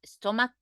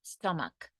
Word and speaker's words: stomach: that's why we say stomach cake because we don't pronounce CH we pronounce like a cake stomach and the other to